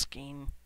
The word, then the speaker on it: skein: enter the portal yes i know it's pronounced skein okay i only recently